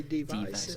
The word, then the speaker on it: DVICE: Oh yeah, Is it you pronounce it device or is it device? You just do device. I do device, but some people say device.